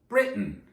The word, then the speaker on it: Britain: Well, our language comes from Britain. Well, it was England when it came to our side of the Atlantic. Britain, Atlantic, Britain, Atlantic. Do you hear it?